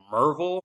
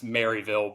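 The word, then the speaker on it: Maryville: They're like Merville. Like it's spelled MU R. I'm like no, it's Mville, but we gota we've got to put the little East Tennessee twist on it.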